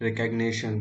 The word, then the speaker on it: recognition: No guys, ये इसका मैंने मीनिंग कुछ गलत पढ़ा है, तो इसका प्रोनाउंसिएशन देख लेते हैं हम लोग। recognition, रिकग्निशन सही बोला था मैं, रिकग्निशन।